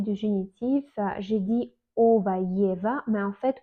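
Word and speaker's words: его: En fait, le moment quand j'ai parlé du génitif, j'ai dit ova, yeva, mais en fait, on écrit ogo, yego, mais on prononce ova, yeva.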